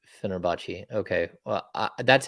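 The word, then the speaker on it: Fenerbahçe: kid yeah but like people are saying phenerbachi no that's not how you pronounce fenerbachi okay well that's how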